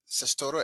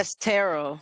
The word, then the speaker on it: Sestero: Did I Sestoro? I don't think I. Sestero. Sestero. Okay, I thought I misspelled her last name.